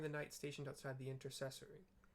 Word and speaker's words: intercessory: Comforts pray inform the night stationed outside the intercessory intercessory I pronounced that right even though I've never heard